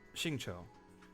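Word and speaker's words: Xingqiu: Shingcho. Singcho. You pronounce it like jao.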